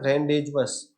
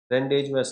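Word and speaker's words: rendezvous: ये जो वर्ड आप देख रहे हैं, रेंडेजवस, रेंडेजवस, इसका प्रोनाउंसिएशन ऐसा ही होता है, थोड़ा सा अलग भी होता है अमेरिकन और ब्रिटिश की वजह से।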